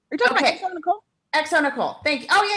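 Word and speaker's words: xoNecole: So I think it's like Zone Cole, but I no, I know this person. It's Exo Nicole. You're talking about Exo Nicole?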